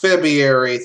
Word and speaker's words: February: this season yeah yeah it's pronounced febrary thank you Fe febr